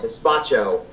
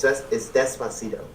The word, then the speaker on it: Despacito: the end it'll be like, anyway, Alexa, play Despacito. And so I make a meme about it and I say, Alexis, play Pistachio. Because I don't say Despacito right. I usually call it Despacho, which is wrong.